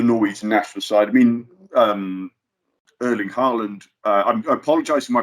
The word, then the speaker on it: Erling Haaland: I mean, Erling Haaland. I apologise if my pronunciation is off, but no, that's good. Erling Haaland, very good.